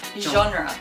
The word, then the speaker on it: genre: Genre. Genre. J. It's like halfway between J and Z, kind of. Genre. You can do it. Genre. Genre. Actually, it's French.